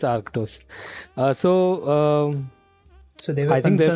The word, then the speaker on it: Arctos: partner which is which I won't even try to pronounce because I'm great Aros is is that it I won't try so I guess you must it's Aros it's it's arctos uh so um so